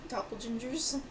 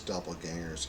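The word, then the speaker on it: Doppelgängers: ginger in a room Doppel gingers it sounds like a fist fight oh it's not it's not pronounced that it's Doppel gangers we did this last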